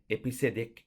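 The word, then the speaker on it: EBCDIC: coded decimal interchange code which can be pronounced by episodic code uses 8-bit to encode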